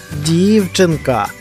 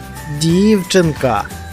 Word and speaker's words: дівчинка: слові наголошений склад ля дівчинка а в цьому слові який склад наголошений дівчинка правильно наголошений перший склад пропоную потренуватися визначати наголошені